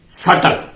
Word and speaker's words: subtle: जैसे SUBTLE सटल और DBT gate और VGETABLE not vegetable, that is vegetable.